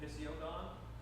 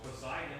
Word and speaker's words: Poseidon: You know, I know for years I called him Pisiodon Oh, because that's how it's spelled. that's how it's spelled. So Poseidon was Pisiodon Yeah. until someone corrected me.